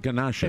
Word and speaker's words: garnacha: garnacha or is it garnacha it's garnacha Gara so good my delicious